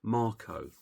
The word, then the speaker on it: Mark: line with Ka and Marco or Mark. They call him Marco in in this language.